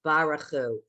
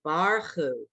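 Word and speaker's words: ברכו: So the resh Mhm. is gonna, you can't, it has a sound when it starts a letter or a syllable. It starts a word or a syllable. So in this case, it's barachu. If you didn't know better, sometimes it's silent. You could say barchu. But Right. in this case, each one has its own vowel.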